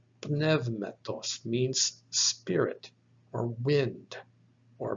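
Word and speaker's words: πνεύματος: sigma on the end so this word is pronounced nevmetos nevmettos means spirit or wind or breath now we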